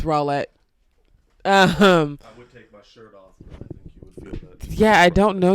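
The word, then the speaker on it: Rowlett: white suburb called named rawlet texas um or rowlet apparently i don't know it's spelled roulette it's rawlet um yeah i don't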